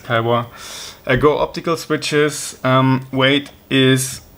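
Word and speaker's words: Kailh: It's not actually pronounced Kaiwa because it's Chinese, it's the name. It's not Kyle. Some people tried to correct me on this, but yeah, it's Kaiwa.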